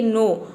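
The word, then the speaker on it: know: pronunciation होता है क तो देख सकते हैं नो में क का साउंड कहीं पे भी नहीं है यहां पे केवल एन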